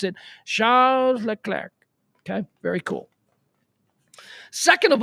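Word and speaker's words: Charles Leclerc: name is pretty cool Charles L clar and you got to pronounce it like that because he's not American you better pronounce it the way he's supposed to pronounce it Charles L clar okay very cool second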